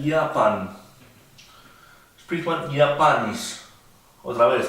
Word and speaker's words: Japan: En Japón, dice que acá se escribe igual que el inglés, pero se pronuncia Japan.